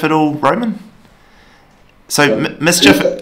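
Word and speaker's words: MSCHF: Mischief, it's spelled M-S-C-H-F, I think, something like that.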